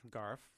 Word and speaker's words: Garff: Garff.